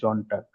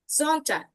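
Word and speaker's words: Sonntag: মনটাগ, ডিনস্টাগ, মিটবক, জনার্সটাগ, ফ্রাইটাগ, জামস্টাগ, জনটাগ। ওকে, অন্য কেউ? আপু আমি বলি, জি জি, বলেন। মনটাগ, ডিনস্টাগ, মিটওয়াক, ডোনার্সটাগ, ফ্রাইটাগ, জামস্টাগ und জুনস্টাগ। জনটাগ, জনটাগ ওকে, উচ্চারণ করেন, জনটাগ।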